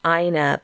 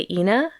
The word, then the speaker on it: Lena: parlor where Lena and I think it's usually here pronounced aina but you said what did you say inna it's probably you know it probably was inna here I think they say aina but where where the